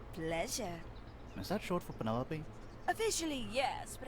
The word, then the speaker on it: Penelope: is that short for Penelope officially yes but I never can be bothered with all four syllables at it Penelope sounds